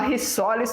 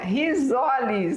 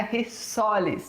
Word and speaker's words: risoles: conhecimento da língua portuguesa, quando você tem um S entre duas vogais, ele é pronunciado como Z, não é isso? Então é risoles, não é risoles, tá? Rissoles teria que ser com dois S.